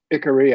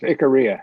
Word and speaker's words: Icaria: Icaria, I pronounce it. Others may say something else. Icaria is how I pronounce it.